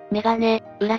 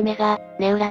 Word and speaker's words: メガネウラ: んだだから読み方としてはメガネ裏じゃなくて目がネウラだメガネで仕切るん